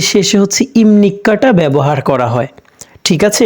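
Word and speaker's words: 입니까: বাক্য দ্বারা ঠিক আছে এটাকে আমরা ইফনিক্কা না বলে ইমনিক্কা কেন বললাম ওই যে ভিউ ভাতমের পরে নিউন আসলে ভিউ ভাতমের পরে যদি নিউন আসে তাহলে নিচের ভিউটি পনা হয়ে ম এর মত উচ্চারণ হয় ভাতমের নিউম ওকে তাহলে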